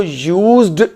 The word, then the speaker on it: used: उसे हमने यूएसईडी को यूज्ड नहीं पढ़ना, उसका प्रोनाउंसिएशन होता है यूज्ड, यूएसईटी जैसे लिखा हो।